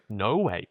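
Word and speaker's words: Noé: It's pronounced No Way. It's French.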